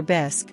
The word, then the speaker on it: bisque: Martha mid-bite of her lobster bisque which she pronounced bisy with a forced accent suddenly fixed me with